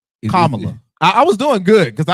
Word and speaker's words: Kamala: quote me on that, Carmela and Joe Biden, other prominent folks like that were vice president. Oh, I said it wrong. Yes. Oh, Kamala.